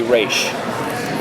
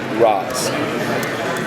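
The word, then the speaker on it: Ra's: If you are outside of the League of Assassins and someone who is rogue and it's a way of disrespecting the leader, you say Roz.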